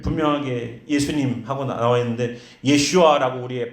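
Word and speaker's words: ישוע: 근데 예수님이라고 말을 하지만 이건 우리 성경에 이렇게 예수라는 발음으로다가 해놓은 거지. 원래는 예슈아입니다. 예슈아.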